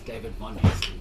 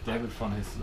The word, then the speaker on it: David von Hessen: It's David von Hessen, but David von Hessen.